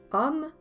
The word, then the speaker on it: homme: Ajoutons homme, femme. Répète. Homme, femme. Attention, dans le mot homme, on ne prononce pas le H ni le E final.